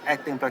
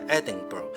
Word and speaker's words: Edinburgh: here It is the Edinburgh Castle behind me First I would like to correct the pronunciation of "Edinburgh" It should have been pronounce as "Edin-Bruh" And not "Edin-Burg" I learned that after